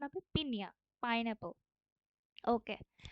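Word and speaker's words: piña: পিনা বাট এই প্রোনাউন্সিয়েশনের মানে এক্সেন্টের কারণে এটার প্রোনাউন্সিয়েশন হবে পিনিয়া pineapple okay so next we have লা ফ্রেসা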